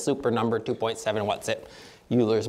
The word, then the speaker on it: Euler: number 2.7 what's it Euler's magic number um Oiler magic number I suppose if we pronounce him correctly but I'm American we